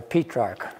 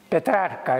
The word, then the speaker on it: Petrarch: Not Petrarch, by the way, Petrarch is the correct pronunciation. Petrarca in Italian, Petrarca. Correct in the mean in English. Yeah. People say Petrarch, but it's not Petrarch, it's Petrarch.